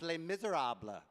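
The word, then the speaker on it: Les Misérables: I'm just kidding but it is pronounced Les Miserables that's one thing we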